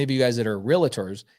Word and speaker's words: realtor: you guys that are realtors it's actually pronounced realtor not real LaTour okay it didn't take